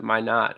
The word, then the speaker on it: Minot: So forgive me if I mispronounce this college name, but is it Minot College? Why not? Why not? Why not? Gotcha. Minot.